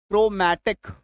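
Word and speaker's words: chromatic: Chromosome C एच आर ओ एम ए टी आई सी क्रोमैटिक।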